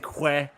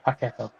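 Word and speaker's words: Paquetá: I'm not saying Que. I'm saying Ke. Ke. Paqueta. Yeah. Paqueta. I got a voice note from Russ. Stop saying Que. Say K. Yeah, because it's in fairness,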